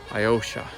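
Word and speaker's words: Alyosha: We're going to a monument, a statue up the top called Iosha, I think is how it's pronounced. Iosha.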